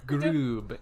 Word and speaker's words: Grube: Let's make it like Grube. But like an A with an accent. Groob and roll your R's.